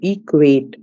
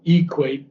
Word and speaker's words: equate: And then the accent on equate is not equate, but it's equate. Equate. Okay. Equate. Equate. Okay. E is not emphasized.